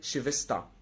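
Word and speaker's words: Schwester: زي تاني حاله اللي تسيها لو جه قبلها اس تنطق شين، يعني الاس تسيها على بعضها تنطق شين. تمام، زي شيفستا.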